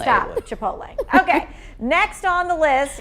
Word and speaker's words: Chipotle: All right, so the correct pronunciation is Chipotle.